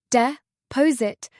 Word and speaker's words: deposit: De pose it. The stress is on the second syllable.